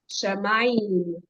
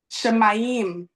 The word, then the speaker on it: Shamayim: That's how you pronounce it, right? Shamay. Yes. Shamayim. May. Is that Is that right? Shamayim. Shamayim.